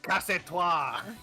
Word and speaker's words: casse-toi: However, I still don't know how to pronounce it. Casse-toi? I don't know. Casse-toi! There you go.